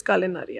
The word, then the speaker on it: culinary: big pressure so अ कुलिनरी ट जो है आई am pronounce it right right कलिन इट इटस कुलिनरी आर्ट सो कुलिनरी आर्ट इज